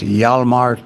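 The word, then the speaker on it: Hjalmar: there at the bottom of the screen it's pronounced yalla mark - it's the name of my little sailboat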